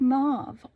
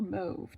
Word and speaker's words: mauve: And then we've got opaque dyed mauve or mauve, depending on where you pronounce things from.